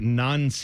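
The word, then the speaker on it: Nancy: I also feel like I mean whenever we say Wilfried Nons like that's the his name is spelled N A N C Y N but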